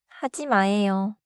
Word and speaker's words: 하지 마: The pattern is say the phrase clearly, then let the last syllable drop a little, not crash down. 첫 번째 표현은 하지 마예요.